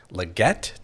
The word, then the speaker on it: Legette: And today, our special guest is Legette. Did I say that correctly? You did, Legette.